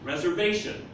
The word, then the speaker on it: reservation: Remember in English, when it's 2 or more syllables, I'm going to have somewhere where the sound breaks in English, and there'll be a fourth tone. It's here with the V. Reservation.